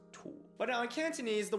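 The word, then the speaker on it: 土: It's du for stomach, but that sound component is pronounced tu.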